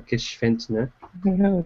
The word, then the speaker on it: Gschwendtner: But this week, we are joined by the lovely, the beautiful, the very talented Gschwendtner. Thank you, Josh. You make me blush now. Did I pronounce it correctly that time?